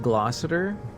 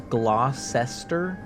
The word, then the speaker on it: Glossier: That's pronounced glossier. Yeah, it looks like it says glossester, but it's glossier.